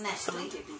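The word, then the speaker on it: Nestlé: English, pronounce it Nestle, not Nestle. If you want to pronounce it as Nestle, it should be N-E-S-T-L-E-Y. Then that's Nestle. N-E-S-T-L-E-Y. That's Nestle. N-E-S-T-L-E is Nestle. It should be with Y. The correct pronunciation is Nestle. Okay. Like the muscle.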